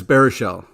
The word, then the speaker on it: Baruchel: what did I do you like Jay bar I don't even know what you're spiritual is that wrong yeah it's bearishell Geeks is also a